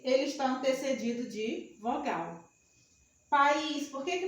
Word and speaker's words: país: Porque o I é tônico, forma um hiato aqui, ó. Não fica na mesma sílaba.